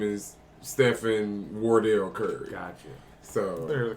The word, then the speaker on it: Wardell: I said it wrong it's not window it's Wardell because that's actually Stephanie